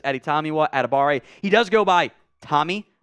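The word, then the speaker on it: Adetomiwa Adebawore: here at Abare uh the W will will confuse you it's not supposed to be pronounced in that it's just editamiwa atabare he does go by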